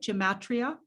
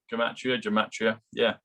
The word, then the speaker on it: gematria: Did I say that right? Gematria? Yeah, gematria. Yeah, you said it right.